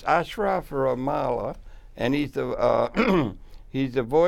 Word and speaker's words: Ashraf: Ashraf, you pronounced it perfect.